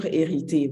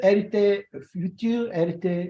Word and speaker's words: hérité: Just like you don't pronounce the H, it's like the same word, heritage. Héritage. So with the same H, but you just don't pronounce the.